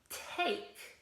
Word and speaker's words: take: week the word was take and it has a silent e on there we don't hear it okay but we do we that means that it makes the vowel say its own name so instead of tack